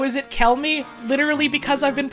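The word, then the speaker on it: Chelmey: what do you mean how is it the thing I've been saying it is because that's how I've been saying it sometimes CH is K a person who could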